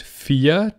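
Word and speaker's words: vier: just sounds in German when I pronounce it fear it just sounds like the preposition F so you can say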